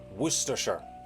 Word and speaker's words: Worcestershire: The Cester part, like the first part of that is all one syllable, and that's French influence.